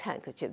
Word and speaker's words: handkerchief: written like that the kerchief um and is pronounced handkerchief there is no no letter to represent a